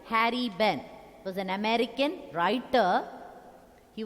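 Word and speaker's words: Harry Behn: The Kite, written by Harry Benn. The poet's name is Harry Benn. Harrybehen. Harry Benn. That H is silent. Ben, H is silent. Harry Benn was an American writer.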